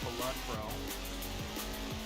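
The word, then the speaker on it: Balatro: Possibly going to play a little bit of Ballotro, or Ballotro, if you want to say it correctly. It is Ballotro. Not Ballotro or Ballotro like I say.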